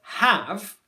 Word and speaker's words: have: sound so for example an easy example would be the word have it's very common for people to say have have or have have where there's a friction noise in the in the throat or the back of the mouth before you make the h sound